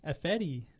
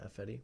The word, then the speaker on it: Ifedi: Jermaine Ifedi. Ifedi. Yeah, Ifedi. Like Fetty Wap?